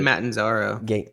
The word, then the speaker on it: Matarazzo: It's Gaten Matanzaro.